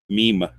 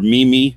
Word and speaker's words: meme: I'm not even a meme person, but a meme, not mean. I am mean, but meme, or mimi, as I always read it when Oh I no. always, man. I don't know why. Every time I read it in a sentence, I say mimi. I did that for the first couple of years. I actually thought that's what it was.